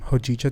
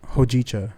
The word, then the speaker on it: hojicha: No, but their matcha and their hojicha tea are really good. What'd you call Because it? it's from Japan. What is it? Huchi tea. Hojicha.